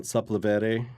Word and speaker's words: Sepulveda: I was actually walking down Sepulveda, is how you say it, Sepulveda Boulevard.